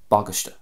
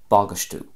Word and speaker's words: bagáiste: And then in Ulster, similar, it's more of an even spread, or possibly more of a focus at the start of the word, bagastu or bagastu. So there's a bit of a U sound at the end there, bagastu.